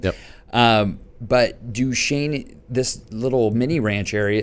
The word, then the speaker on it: Duchesne: So, but what was unique about Duchesne is how you pronounce it, Duchesne. Very interesting. It's a French name. Yep. But Duchesne, this little mini ranch